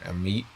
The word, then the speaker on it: Amite: Southeastern Wilkinson and uh Amite or a meat and some people like to say because I've heard people pronounce that one before counties through 4 15